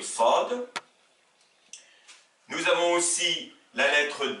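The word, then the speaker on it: ص: Donc, nous avons la lettre S qui s'appelle Sin en arabe et qui s'oppose à la lettre emphatique qui se prononce avec une voix grave qui est le Sad.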